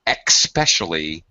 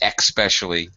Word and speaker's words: especially: Okay, lots of mispronounced words with an EX sound that's really not supposed to be here. Here is another one. Especially is not supposed to be especially.